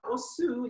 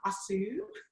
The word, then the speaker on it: Osu: Okay, so yeah, Osu, let me first start with the name, because I think a lot of people get the name wrong, the pronunciation. It's not Asu, it's Osu.